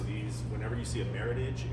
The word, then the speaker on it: Meritage: and it is pronounced Meritage a lot of people will say Meritage but just for your knowledge um it comes from the words Merit and Heritage uh it was originally